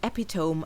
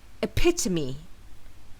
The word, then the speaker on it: epitome: in he is the epitome of kindness however the correct way to pronounce this word is epitome epitome with the stress falling on the second syllable so the pronunciation of